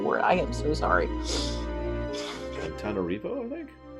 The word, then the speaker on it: Antananarivo: Antananarivo, I think? No, Antananarivo. There's another A in there.